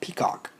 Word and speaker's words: PCOC: normal contracts oversight committee pcoc pronounced peacock headed by longtime rival